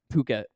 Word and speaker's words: Phuket: sounds like it um it's pronounced Phuket Phuket okay no worries still pretty close close um